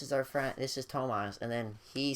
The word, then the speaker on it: Tomas: me the wrong name uh my name is thomas or well like more better pronounced as ton tomas um people call me thomas thomas tomas any